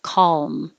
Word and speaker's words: calm: keep making the l noise as you close your lips for the m calm calm so it doesn't have to be a perfect l it doesn't have to be a good l it has a name dark l which sounds mysterious but it just means it's further back in the mouth instead of at the front here and more the middle of the tongue touches calm calm down awkward